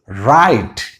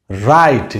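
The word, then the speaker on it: right: একইভাবে আর মানে র, আরের উচ্চারণ কি হয় র, তার সাথে আইট, তাহলে র যোগ আইট কি হয়ে গেল রাইট, রাইট।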